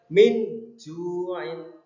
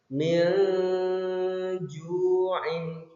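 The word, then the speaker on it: مِنْ جُوعٍ: Contohnya min ju'in, samar, membacanya samar, tidak boleh jelas. Kalau jelas min ju'in itu salah. Atau didengungkan itu salah. Min ju'in kurang pas. Jadi yang betul adalah disamarkan. Min ju'in.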